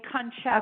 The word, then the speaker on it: Concetta: It's almost like if you were to say Loretta, only Concetta.